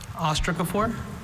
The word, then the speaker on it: ostracophore: Ostracophore? Ostracophore. Alternate pronunciations? Same Just experience. the one, ostracophore.